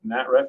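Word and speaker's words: NATRF: That's how we pronounce it, NATREF.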